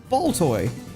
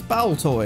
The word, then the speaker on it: Baltoy: I'm like, "It's ball toy." No, it's Bow toy. It's like, I don't care. They're both valid because I say so.